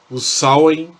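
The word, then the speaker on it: Samhain: principalmente com os alvin o sal em como era pronunciado na língua gaélica na escócia o que era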